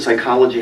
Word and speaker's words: psychology: public school in Ohio they really knew that psychology had a silent p there were certainly no